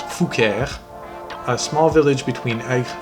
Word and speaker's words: Fouqueure: Anyway, it's pronounced Fouquier.